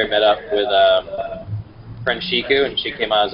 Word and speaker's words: Siku: Yeah, it's pronounced Siku. It's spelled S-I-K-U, but there's no H.